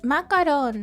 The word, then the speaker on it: macaron: Macaron.